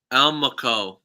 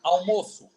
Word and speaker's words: almoço: Almaco. Okay, let's pronounce it again. Okay. Especially this one here, this letter here, with the sound of Ch. Ch. S. yes, almoço. Almoso. Almoço.